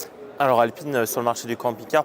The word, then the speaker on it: Alpine: En japonais, on dit Alpine.